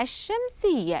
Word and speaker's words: الشمس: الى الشمس اللام الشمسيه كيف تنطق الشمس احسنتم واللام الشمسيه لا نقوم بنطقها ولكن نقوم بكتابتها اذن اللام الشمسيه لا تنطق ونقوم بكتابتها ايضا تعرفنا على ان